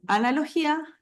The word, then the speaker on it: analogía: l distinto a analogía en analogía analogía Sí ahí la vocal acentuada es la i y no la a entonces ahí se forma